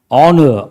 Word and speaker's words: honor: H is silent or mute.